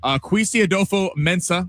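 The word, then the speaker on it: Kwesi Adofo-Mensah: Vikings GM Kwesi Adolfo-Mensah, I said that right.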